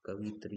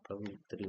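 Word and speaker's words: कवयित्री: कवित्री कवित्री नहीं होता कवियत्री होता है।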